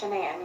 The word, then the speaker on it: Shanann: It's Shanann. You pronounce it like shenanigans. Okay. Everybody calls her everything else but that, but it's Shanann.